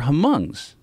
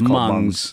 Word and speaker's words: Hmong: issue well there were Hmong's okay you know her mom is like this if you saw a grand Torino that movie with Clint Eastwood I think the H is silent I think yes mom's right the hm oh